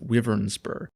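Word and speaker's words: Wyvernspur: And yes, apparently it is pronounced Wyvernsper, even though I would usually say Wyvern.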